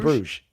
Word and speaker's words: Bruges: In Bruges. Yeah, in Bruges? Yeah, okay. Yeah. What does that mean? It's Bruges is the name of the place. Okay. So they are in Bruges.